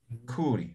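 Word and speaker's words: khuri: No es complicado, mira. Aka, uka, kaya, kuri, ¿no? Simples, ninguna es, no, esto es aspirado, estos dos aspirados, ¿no?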